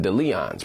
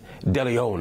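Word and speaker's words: DeLeón: to be featured in delon's promotional content because of his quote toxic image now that's Diddy's own tequila brand delion is the proper pronunciation by the way I think I messed that up this all comes in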